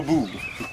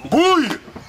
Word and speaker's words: bouille: Ah oui, j'aime que l'eau boue. Bouille. Ah non, je vous prie de m'excuser. À ma connaissance, on dit il faut que l'eau boue. Changez de connaissance. Ça s'écrit B-O-U-I-2-L-E et ça se prononce bouille.